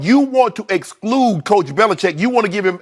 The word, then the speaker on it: Belichick: That Bill Belichick, before Tom Brady fell out of heaven into his lap, Bill Belichick, it's Chick actually. Chick. Chick, it's C-H-I-C-K.